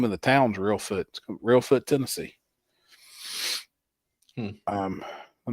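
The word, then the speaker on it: Reelfoot: It's in uh I think that even the name of the town's Real Foot.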